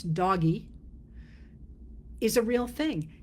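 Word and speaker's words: DOGE: The same way I would argue that the Department of Government Efficiency, which I pronounce doggy, is a real thing.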